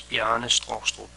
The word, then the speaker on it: Bjarne Stroustrup: The proper Danish pronunciation of my name is Bjarne Straastrup. Native English speakers usually get Bjarne right, but I often have to say Straastrup or Straastrup to be understood.